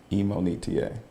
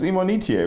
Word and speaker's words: Imonitie: it's my fault but the correct way to say my name is emonita so people in college when they see me now they're like whoa who's imonitier you know eminetti i'm like no not eminem on eta wow yeah okay so